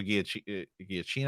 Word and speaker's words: Giacchino: First of all, Michael Giacchino, I think is how you say his name, Mhm.